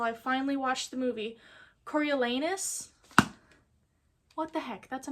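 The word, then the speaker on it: Coriolanus: When I was reading this before I saw the movie, I just pronounced it Cornelius. I tried sounding it out, but I read so fast my brain just decided it was going to be Cornelius until I figured out how to pronounce it.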